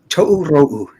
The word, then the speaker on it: Tōrō: Oh man, how do you pronounce it again? Tōrō. Tōrō Tales #1, 88-page anthology.